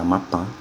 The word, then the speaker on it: Amapá: Se você separar Amapá, você tem 3 sílabas. Veja que a sílaba tônica é a última, portanto ela é uma palavra oxítona e termina em A, por isso que ela tem acento.